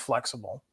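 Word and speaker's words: Flxible: bit different back then it's pronounced flexible but technically it is spelled capital f l x i b l e and it's flexible company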